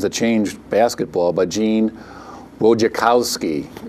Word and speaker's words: Wojciechowski: It's called The Last Great Game, Duke versus Kentucky, and the 2.1 Seconds That Changed Basketball by Gene Wojciechowski.